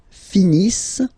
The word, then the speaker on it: finissent: Ils finissent. So remember, as usual, when we've got the verbs E-N-T not pronounced.